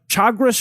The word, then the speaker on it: Chagres: It also obviously increases the likelihood of landslides, and perhaps most importantly, it turns the Chagres River, I believe is how it's pronounced, the Chagres River, which is right down the fucking path